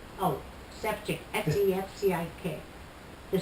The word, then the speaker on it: Sefcik: It has a little V on top of the C, and when you get the little V on top of the C, you pronounce it ch.